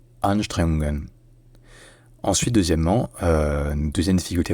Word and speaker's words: Anstrengungen: La première, c'est l'accent tonique. En fait, il y a l'accent tonique principal, premier, qui est sur la première syllabe, sur le an. Et il y a un accent tonique secondaire, qui est sur la deuxième syllabe, sur le streng. Donc ça devient Anstrengungen.